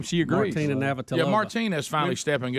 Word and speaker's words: Navratilova: Martina Navratilova.